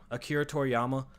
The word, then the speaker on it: Akira Toriyama: Akira Toriyama. Yeah, I wasn't sure if I was saying it right, but yeah, Akira Toriyama.